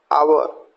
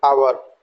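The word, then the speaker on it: hour: Honest, आवर, अब आप देखेंगे एच को यहाँ अगेन हमने साइलेंट रखा है तो आवर, वाइल, वाइट।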